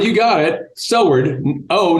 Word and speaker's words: Soward: said you got it Soward oh not ow in Kentucky I think it's pronounced sour okay all right good